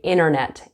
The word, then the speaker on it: internet: internet notice that sometimes Canadians and Americans will say internet and they won't pronounce the T so we're going to